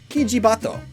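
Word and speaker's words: キジバト: This one is a bit more complicated though, so to severely simplify things, the Oriental Turtle Dove's Japanese name is pronounced, roughly, Kijibato, which translates to pheasant pigeon.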